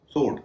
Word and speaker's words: sword: वह शब्द है SWORD। इसे स्वॉर्ड नहीं कहेंगे, सोर्ड कहेंगे। अब हम आते हैं वी के मामले में।